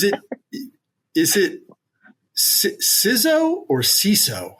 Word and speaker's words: CISO: Rob, is it is it siz or ciso? How do you like to say it? I always say CISO. CISO. Okay. I've heard you were saying siso before, but I've heard other people say that.